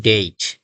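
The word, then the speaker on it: date: হবে তাহলে এটার উচ্চারণ হবে কেট কেইট আমরা ডেট না বলে উচ্চারণ করব ডেইট ফেট না বলে উচ্চারণ করব ফেইট গেট না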